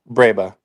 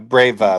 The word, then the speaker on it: breba: How do you technically pronounce it? Breba. Breba. Breba, and sometimes they have Breva, like with a V.